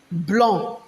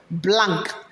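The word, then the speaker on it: blanc: the french language color white is called blonde blonde not blank it's not pronounced as what blank is pronounced as what blonde blonde but when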